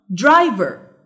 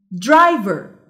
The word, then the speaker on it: driver: driver. driver. The stressed syllable is drive. drive.